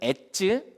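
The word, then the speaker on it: עץ: 히브리어로 발음할 때 이 나무는 에츠, 또 겨는 모츠로 발음되거든요. 에츠와 모츠.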